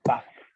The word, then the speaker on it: puff: ¿Le dices PUF? Porque se escribe PUF, se escribe P-U-F-F, o le dices PAF, ¿cierto? PAF es como le digamos nosotros, pero varias veces en su vida van a escuchar que le dicen PUF también, porque es como se lee.